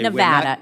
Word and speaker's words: Nevada: point in Nevada okay Nevada it's Nevada sir please say it correctly it's Nevada if a veteran Liv